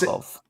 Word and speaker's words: Zhukov: I think it was Zukov. Gorgo He was. Zhukov.